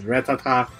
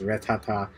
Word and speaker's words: Rattata: Rattata I don't know I pronounce it as rattatta so fight me oh